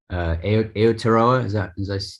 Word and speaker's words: Aotearoa: Aotearoa, did I say it right?